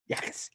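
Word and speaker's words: Jacas: Yakas. Yakis. Yakas. Yakas. It's a no J.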